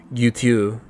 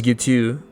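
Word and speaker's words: Guiteau: Like Charles Guutu, Gui T au. I bet you couldn't pronounce it either, whoever's listening. Charles Gutu, the man who had assassinated President Garfield in Washington for no clear reason.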